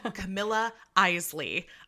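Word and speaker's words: Camilla Isley: at christmas by um i looked up her name to know how to pronounce it correctly it is camilla eisley um that is at least how the audiobook narrator and pronounced her name so we're gonna go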